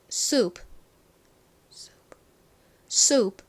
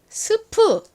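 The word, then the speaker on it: soup: 볼게요 수 so 좋습니다이 단어를 한국식으로는 보통 스프 이렇게 발음을 합니다 스프 그런데 미국에 가셔서 스프 주세요 이렇게 스프 스프 이렇게 하면은 미국 사람들이 못 알아들을 확률이 굉장히 높아요 스프 하지 않고 본토 영어 발음인 수 소 이렇게 발음을 해 주셔야 원활하게 원하시는 수프를 받으실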